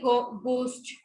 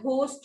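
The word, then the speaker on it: ghost: जैसे गोस्ट, ठीक है, तो गोस्ट होता है, ये एच साइलेंट होता है, घोस्ट नहीं बोलते हैं इसको, इट इज गोस्ट.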